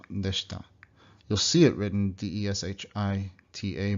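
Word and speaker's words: でした: This is almost always dropped completely, so it sounds like deshita, deshita.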